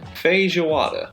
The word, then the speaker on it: feijoada: Man, I need to learn how to pronounce that before I say it out loud. Feijoada.